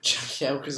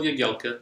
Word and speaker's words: Jagielka: like, "Hi, I'm Phil Jagielka," like in his Yorkshire accent? I haven't seen it. No. Yeah, because it's a Polish surname, you see, so it's pronounced differently to how it may appear.